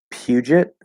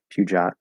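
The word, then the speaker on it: Peugeot: so we'll see renault puget i guess there's a couple different ways i would try to pronounce that that's probably the most likely puget puja maybe puget uh volvo so puget i've never heard of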